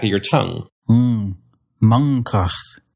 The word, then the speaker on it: mankracht: It'd be hard to pronounce that N in the front of your mouth followed by a K at the back of your mouth. Mankracht. And so instead, you'll make the N using the back of your tongue.